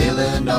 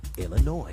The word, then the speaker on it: Illinois: It ends with an S, but don't say it, boy, when mentioning Springfield, Illinois.